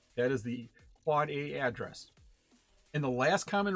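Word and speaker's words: AAAA: the quad a the the four a's it's pronounced quad a that is the end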